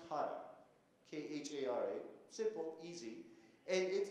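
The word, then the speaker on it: khara: That thing is pronounced Kara, K-H-A-R-A, simple, easy, and it is the flavor of chilies, you know, hot.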